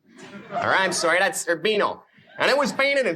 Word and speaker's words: Urbino: Now, the first one here is called the Venus of Urbizo. Or I'm sorry, that's Urbino.